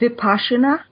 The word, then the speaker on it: Vipassana: Heidi has been practicing breath awareness in ancient Vipassana. Is that pronounced correctly? It's Vipassana.